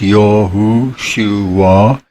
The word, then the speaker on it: Yahushua: And in the New Testament, as Yahushua HaMashiach, pronounced Yahushua, meaning Yahu of the Old Covenant, the YHVH, has become human and He has come to deliver us.